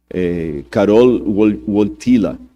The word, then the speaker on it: Karol Wojtyła: E o Karol Wojtyła, esses dias eu pedi a alguém que fala polonês para me corrigir a pronúncia, Karol Wojtyła, que era o nome do Papa, ele sofreu muito na mão do comunismo na época da Polônia.